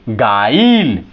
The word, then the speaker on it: guile: तो आप देखें इस तरह से GUILE गाइल, GUILE क्या हो गया? गाइल, यू हमारा क्या हो गया? साइलेंट हो गया।